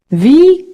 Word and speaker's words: wie: Nicholas is that Nicholas wie geht's Enon how are you v how notice that the W is always pronounced like a V V moving on Isabella